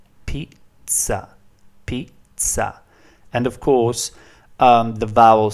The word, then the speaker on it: pizza: Now, although it's pronounced pizza in English, so in English you pronounce it like this, pizza. In Italian it's pronounced pizza. The sound ts is basically the sound T plus the sound S, and it's very common